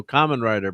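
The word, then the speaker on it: Kamen Rider: And let's uh Oh, was adopted from Cameron Rider Black RX pronounced like Common. Okay. Oh, Common Rider Black RX.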